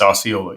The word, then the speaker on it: Osceola: Is that how you pronounce it? It's Osceola. Osceola.